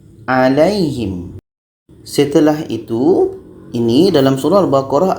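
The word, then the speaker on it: عليهم: 'Lai' ini dibaca pendek, tetapi diucapkan dengan lembut dan perlahan. Alaihim . Alaihim.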